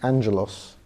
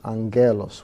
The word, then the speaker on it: Angaelos: mispronouncing it yes so I was tired of being Angelo's and so phonetically I was anger loss with the AES oh yeah so yeah